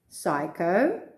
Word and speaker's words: psycho: reason for this because they are greek and in greek the p is pronounced practice these words and